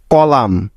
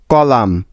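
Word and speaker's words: column: বা উজ্জ্ব থাকার নিয়ম এম এর পরে এন থাকলে ওই এন টা সাইলেন্ট বা উজ্জ্ব হয়ে যায় অর্থাৎ তার কোন সাউন্ড হবে না যেমন ড্যাম ই এম এন ড্যাম কলাম সি ও এল ইউ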